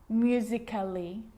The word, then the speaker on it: musically: these romantically musically logically so i'm not pronouncing romantically musically and logically cut the a out get rid of it romantically musically logically